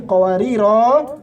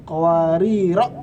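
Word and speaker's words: قواريرا: Qawarir ayat 15 kalau berhenti qawarira, kalau terus qawarira pendek.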